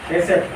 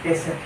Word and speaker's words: hesed: Oke ya, kasih setia, hesed. Hesed. Supaya tepat pengucapannya, coba saudara ucapkan hesed.